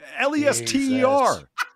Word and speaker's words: Leicester: Lester.